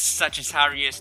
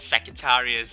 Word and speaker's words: Sagittarius: we have virgo uh it's sagittarius not secretaries i got the pronunciation wrong there we have gemini chimpanzee